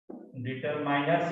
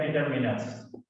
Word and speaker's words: determiners: डिटरमाइनर्स या डिटरमिनर्स दोनों तरह से अपना प्रोनाउंसिएशन कर सकते हैं।